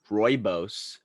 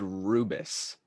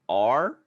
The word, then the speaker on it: rooibos: So what are the other pronunciations? My friend Jacob, shout out to him, we were talking about it, and he said, what did he say? He said rubus. No, that's incorrect.